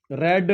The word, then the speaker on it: read: देखो बच्चों, मैं इसको रेड पढ़ रहा हूं बार बार क्योंकि वर्ब की थर्ड फॉर्म जो है वो रेड पढ़ी जाती है, स्पेलिंग सेम होती है, READ, रेड स्पेलिंग सेम होती है, इसको रीड भी पढ़ते हैं।